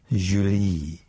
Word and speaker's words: Julie: He said, "Joyer, I am Julie." As with all English names taken into French, it sounded exotic, the J soft, the accent rolling to the second syllable.